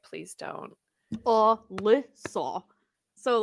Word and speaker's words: Lissa: But When mine's 3 people say Ari, I'm syllables. just like, "Please don't." Lissa.